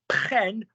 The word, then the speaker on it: prennent: Then you're going to go prenons, prenez, prenne, that rhymes with 10.